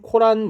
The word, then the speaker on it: 코란: 그리고 이슬람교는 꿀한 쿨한 코란 뭐 이렇게 표현하죠 보통은 발음은 구란이라고 읽는게 맞대 보통 쿨한 이렇게 씁니다